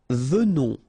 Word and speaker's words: venons: Nous venons. Okay, so final S not pronounced, and then remember that you pronounce this like a the. Venons. Okay, O-N in your nose, on.